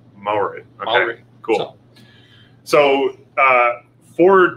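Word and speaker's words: Māori: Because as it's spelled, it's Maori. And so you think it's Maori, and it's like three syllables, and it's like, think of it as two, and it's like Maori. Maori.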